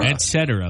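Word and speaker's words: etc.: short for what oh Etc but a lot of people say Etc it's like espresso people add the X that's not there it's not espresso it's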